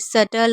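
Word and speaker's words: subtle: जैसे सटल हो गया, डाउट हो गया। तो इसमें भी हम क्या कर रहे हैं? बी को नहीं पढ़ रहे हैं।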